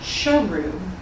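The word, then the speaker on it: Sheru: And Saru later learned that he had been mispronouncing his own name for all those years. His real name was actually Sharu, which translates to lion, which is where the title comes.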